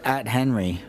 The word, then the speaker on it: Athenry: Athenry. I knew I was going to pronounce that wrong. Yeah. Is that the something? joke is at Henry. Oh, now I can remember it. At Henry. At Henry. Now I can remember But it. it's Athenry.